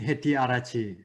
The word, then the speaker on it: Hettiarachchi: It's Hettiarachchi.